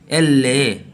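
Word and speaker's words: elle: এবং এলকে এললে এললে এললে এলকে ওরা সাধারণত বলে থাকে এললে এললে।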